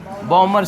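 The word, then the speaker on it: Balmer: बॉमर श्रेणी। क्या लिखेंगे बाबू? बॉमर श्रेणी। मतलब बाल्मर हिंदी लिखा था, अंग्रेजी साइलेंट रहना। बॉमर सीरीज आया है समझ में?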